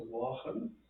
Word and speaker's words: Laughlin: like Neil Laughlin, but in Gaelic the L is pronounced like a W. So Wachan, you know, it's like the same like Ainslie, it's Wach.